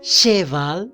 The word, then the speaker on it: cheval: Entonces, si yo digo cheval aquí, está muy mal, ¿cierto? ¿Cómo pronuncio?